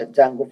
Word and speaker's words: Django: And now we are going to be entering is an advanced Python Django framework. D is silent in this word called Django framework.